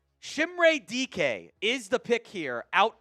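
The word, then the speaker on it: Dike: So Chimere DK is the pick out of Florida. It is pronounced DK. It's not the other words that you could maybe potentially interpret that as.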